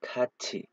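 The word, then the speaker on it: 같이: जस्तै खाच्छी, यदि थ लगत्तै इ आयो भने त्यसको उच्चारण खाच्छी हुन्छ है।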